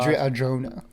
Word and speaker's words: Adria Arjona: Adria Arjona. I hope they don't say Arjona, because that's like, no, you ignorant slut. Don't say that. Yeah, say it with the accent.